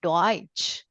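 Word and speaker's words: Deutsch: German yeah you see here German and D do this is read as do okay in German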